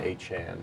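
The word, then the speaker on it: Achane: you can really start anybody now here's the thing though the money chain sorry Devon a Chan yeah yes Devon has requested that people Now pronounce his name achan after having a 200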